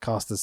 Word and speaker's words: Caster: But I'm already seeing what does Bowens and Caster's single careers look like. Yeah. Caster, I should say. That's how he pronounces it.